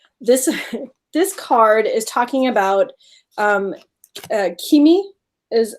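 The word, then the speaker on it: Cimi: And so like, for example, this card is talking about Kimi is how you pronounce it.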